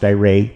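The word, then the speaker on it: Aire: they named my sister air pronounced iray which means air and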